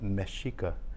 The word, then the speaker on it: Mexica: uh when the the the Aztecs they refer to the S as mikah MH and since Spaniard couldn't pronounce it correctly that's when we be became the meos instead of the mesika like that so you